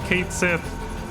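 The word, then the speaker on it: Cait Sith: they saw that that that K she was going to be pronounced Kate Sith when that Twitter post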